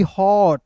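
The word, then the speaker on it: hot: चलिए अब देखिए यहां पे एच ओ टी हॉट। क्या हो गया? एच ओ टी हॉट हो गया। यानी कि औ के रूप में उच्चारण करना है।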